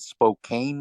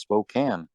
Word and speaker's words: Spokane: But what was funny is when I saw the sign, in my mind it said Spokane, Washington, and then come to find out it's pronounced Spokane.